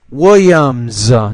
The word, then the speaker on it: Williams: William pastor of e Willams don't forget the S at the end it's pronounced like a z because it comes after the M which is a voiced